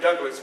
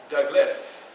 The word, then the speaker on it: Douglass: s on it so when you say my name you say my name politely Douglas not Douglas Douglas you make sure you pronounce that other s so anyway like I